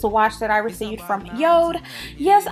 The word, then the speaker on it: Jord: that I received from Yode. Yes, I know it's spelled J-O-R-D, but it is pronounced Yode.